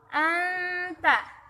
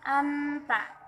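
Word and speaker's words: أنت: Nih, lihat pada bacaan anta. Nun mati bertemu dengan huruf ta, maka dibaca samar. Bacanya tidak anta, tidak seperti itu, tetapi kita samarkan. Anta, anta.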